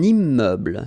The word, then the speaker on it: immeuble: Un immeuble. So you can see I'm making this little liaison between the two. Un immeuble. Final not pronounced. Un immeuble.